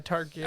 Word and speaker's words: Targaryen: Targaryen? Yeah, Targaryen. I don't know. Targaryen.